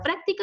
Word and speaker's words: práctica: inicial como por ejemplo la palabra práctica lleva tilde porque es esdrújula se carga la voz el ante penúltima sílaba y por lo tanto